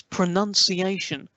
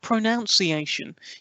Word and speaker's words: pronunciation: a note to death its pronunciation not pronounced iation you seem to use